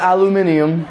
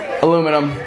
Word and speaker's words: aluminium: All the aluminium.